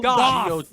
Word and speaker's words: Goth: Goth, not Jared Goff.